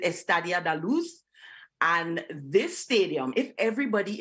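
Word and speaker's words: Estádio da Luz: This is, I believe you pronounce it Estadio da Luz.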